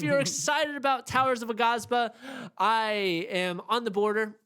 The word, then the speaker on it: Aghasba: Aghasba.